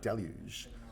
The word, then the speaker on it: Deluge: Well, I mean, in New Zealand, we say the word deluge. But, obviously in France, it's a French word, to them it's more like deluge.